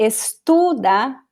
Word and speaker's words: estuda: Ele estuda português todos os dias, mas ontem não estudou. So same rules here. Estuda, second to last syllable. Estudou, the second to last vowel.